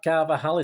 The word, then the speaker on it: Carvajal: be replaced by someone perhaps lesser lesser-known carvajal carver haley that's how you pronounce it um can be world-class but he's